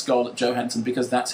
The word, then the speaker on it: Johansson: Because Scarlett Johansson, who is pronounced Scarlett Johansson because that's how she pronounced it. As opposed to Johansson.